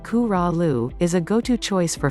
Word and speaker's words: Corolla: Corolla, just below the Virginia border on the Outer Banks, Corolla, pronounced Coo-Ra-Lu, is a go-to choice for families with young kids, thanks to its gentle waves and 24 miles of wide, white sand.